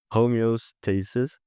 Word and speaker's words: homeostasis: saying it right in in English homo no homeostasis like get a reaction from them so if